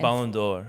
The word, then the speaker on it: Ballon d'Or: how to say it Ballon d'Or it's just door it's the same thing as is Spanish how are you doing without the O you just take the